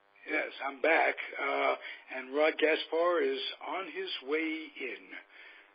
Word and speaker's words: Gaspar: That's how we Gaspar pronounce to you.